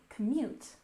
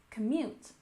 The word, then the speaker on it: commute: our first word is commute we stress the second syllable commute commute and this is how